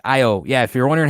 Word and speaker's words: Io: Io. Io. Now, there's the alternate pronunciation of Io, though, right? Io, yeah. Which nobody says that nobody because says you're a weirdo if you say Io.